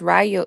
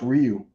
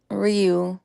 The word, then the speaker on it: Ryu: Is that how you pronounce it? My bad. I thought it was Rayo. Is it Rayu or Ryu? I I Street Fighter character, ain't it? The street fighter character is actually pronounced Ryu.